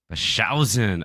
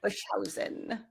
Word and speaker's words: Boshuyzen: it's totally cool uh my last name is pronounced bashen okay bashen bashen it's like TJ husa missili orever those